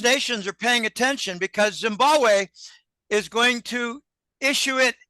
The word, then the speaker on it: Zimbabwe: He said, no, Zimbabwe. The second B in Zimbabwe is silent. It's Zimbabwe.